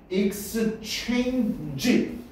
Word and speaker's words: exchange: 이거는 취 발음이야. 취. 취. 됐냐? 취 발음이야. 그거 어떻게 발음해야 돼? exchange, g 이것도요. 이렇게 되는 거예요. g 발음이야. g exchange, exchange. 됐냐?